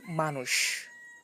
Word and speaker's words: মানুষ: যেমন দেখো মানুষ, মনুষ্য, এই যে মানুষ আর মনুষ্যতে আমরা লিখতেছি মূর্ধন্য ষ কিন্তু উচ্চারণ করছি তালব্য শ এর মতো।